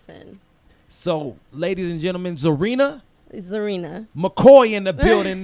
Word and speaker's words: Czarina: pronounce your name uh my name is pronounced zarina zarina i noticed he was silent i knew it jeez